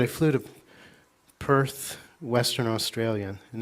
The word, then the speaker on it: Perth: For one example, as I said, I flew to Perth, Western Australia, and they pronounce it Path. There's no R's, like shock, not shark, it's a shock, so it's Path.